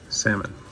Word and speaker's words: Salmon: do you say salmon I say salmon because that's the proper way to say it silent L just like the second l in llama that's not La llama